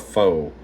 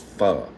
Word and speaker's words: pho: Please tell me you don't call it faux. All my redneck family in here calls it faux.